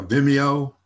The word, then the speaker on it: Vimeo: or from um v i don't even know how to say it vemo yeah vimeo vimeo is a vimeo okay can be used